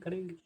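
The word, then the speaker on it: crow: याद कीजिएगा मेरे साथ यदि किसी वर्ड के अंत में डब्लू आता है तो डब्लू को प्रोनाउंस किया जाता है यदि किसी व के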